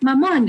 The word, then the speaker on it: Mamon: recess period or break, they just started like mispronouncing it like very much intentionally, and it pissed me off. Like they were literally running around the playground saying like "mammon, mammon," and it pissed me off so much.